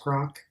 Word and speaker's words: Grok: I mean, have you seen the number of people who go on, is it pronounced grok, and like Yes.